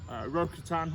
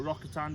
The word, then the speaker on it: Rokatan: of the brand new ftx rokutan or rockettime depending how you want to pronounce it and here it is